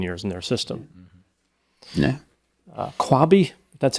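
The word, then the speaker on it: Qwabe: Kwabe, that's how you pronounce it.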